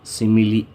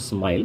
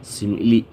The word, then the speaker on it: simile: Figure of speech, simile, not smile, simile.